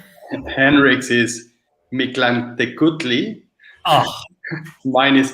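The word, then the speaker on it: Mictlantecuhtli: Henrik's is Mictlantecutli.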